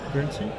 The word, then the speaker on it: Guernsey: Guernsey. Guernsey, that's how you pronounce it, yeah.